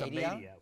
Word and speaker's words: Amadeo: I think it's Amadeo, right? No, it's Amadeo.